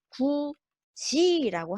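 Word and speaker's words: 굳이: 원래는 우리가 그냥 굿이라고 해야 돼요. 그죠? 자, 근데 자, 원래라면 우리가 자, 이 뒤에 모음이 하잖아요. 그죠? 모음이 오고 이게 실질적인 의미가 없어요. 그러면 이 디귿 받침이 그대로 이어져 소리 나야 됩니다. 굿이라고 해야 되는데 굿이라고 우리가 하지 않는다는 것이죠. 이거는 틀렸습니다. 그리고 이렇게 굿이라고 하면 안 돼요. 이건 틀렸습니다. 어떤 발음이 좀 맞느냐? 자, 구지라고 하는 것이 많습니다. 구지 이렇게 구지가 정확한 발음입니다.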